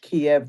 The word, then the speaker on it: Kiev: give chicken Kiev speech, Kiev, the Russian pronunciation.